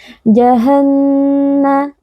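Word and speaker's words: جهنم: Jahannama. Di sini, ada juga seorang biarawati dengan shaddah. Aturannya tetap sama. Kita harus melafalkannya dengan suara sengau yang diarahkan ke hidung, lalu menahannya sebentar.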